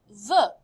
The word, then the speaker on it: veut: He wants, il veut. And notice the subtle difference. Je veux, tu veux, exactly the same spelling. Il veut, same pronunciation, but spelled a little bit differently.